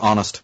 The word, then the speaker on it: honest: Like the word honest, for instance, right, has an H in front of it, but you barely hear it.